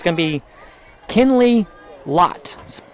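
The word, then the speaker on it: Loth: Oh, it's going to be Kinley Lot. L O T H, but the H is silent.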